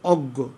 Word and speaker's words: অজ্ঞ: তাহলে অজ্ঞ, দেখো বন্ধুরা দেখতে পাচ্ছ কি না, তাহলে অজ্ঞ অজ্ঞ এটা কিন্তু নাসিক্য হইল। আর গ, যেহেতু গয়ের মতো দুইবার উচ্চারণ হচ্ছে অজ্ঞ, এই জন্য কিন্তু গ দুইবার লিখলাম।